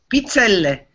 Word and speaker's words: pizzelle: How do you say it? Pizzelle. Pizzelle. Okay. Put a little more oomph in it.